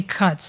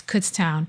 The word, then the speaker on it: Kutztown: I say cuts and he teases me. It's Kutztown, which is near Allentown, Pennsylvania.